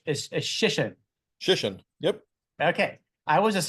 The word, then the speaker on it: Shission: Shission, just like mission. Okay, but it's Shission. Shission.